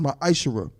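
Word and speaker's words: מעשר: and Malachi 3: 8-10 means 10th in Hebrew and it's pronounced my iser 10% of every penny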